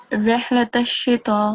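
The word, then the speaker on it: رحلة الشتاء: So it's 4 seconds. You know this stroke, right? I don't know the name, but I know what it is. Yeah, so it's madd saghir, and it's supposed to be prolonged for no more than 4 seconds.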